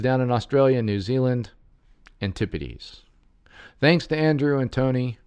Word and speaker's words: Antipodes: around the Mediterranean Basin it's actually said Antipodes rather than anti posed sorry about that to all you that live down in Australia New Zealand Antipodes thanks to Andrew and